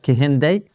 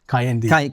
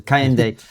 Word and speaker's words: Kehinde: And I will get this your name wrong even though you corrected me and I want to get it right. Kahende Kayendi. K. See, I told you. Kayende Kendra Andrews who is Britain's first professor of